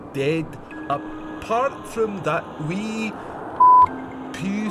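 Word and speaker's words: Pugh: Pew, spelled P-U-G-H.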